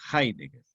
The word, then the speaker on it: Heidegger: no se pronuncia la pongo en alemán se pronuncia ahí entonces heidegger posiblemente fue el más célebre filósofo del siglo